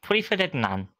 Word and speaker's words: Tuatha Dé Danann: Okay, so it's Tuatha Dé Danann, correct? Close. Tuatha Dé Danann.